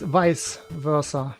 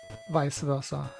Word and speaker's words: vice versa: I have been hearing people say vice versa so often recently. If anybody of you thinks that's how it's pronounced, please revise your understanding. It's vice versa, please.